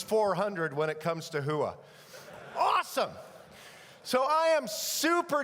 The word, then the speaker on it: hooah: You can't say it like this, hooah. You know, it's got to be guttural. It's got to be deep down. It's got to be hooah.